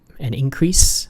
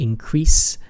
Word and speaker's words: increase: the first syllable, but the verb, normally the way you pronounce it, to increase, is in the second syllable.